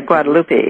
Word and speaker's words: Guadalupe: How do you pronounce that? Guadalupe? Yeah, Guadalupe.